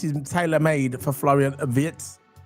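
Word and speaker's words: Wirtz: Vitz, not Vert. He's a vit. Uh, that's a German way.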